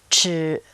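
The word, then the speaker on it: 吃: นิด นึง นะ ครับ ห่อ ลิ้น นะ ครับ ท่าน ห่อ ลิ้น หน่อย นึง ชือ ก็ คือ ช ช้าง นั่น เอง แทน ที่ จะ ออก เป็น ช ช้าง นะ ฮะ ท่าน ก็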